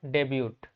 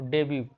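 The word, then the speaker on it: debut: Next word है डेब्यूट। पांचवा word जो है वो डेब्यू, इसे डेब्यू कहा जाता है, प्रोनाउंसिएशन।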